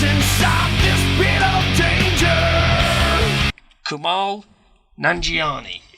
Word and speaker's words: Kumail Nanjiani: Kumail Nanjiani is how we're going to say his name. That's what we're going with.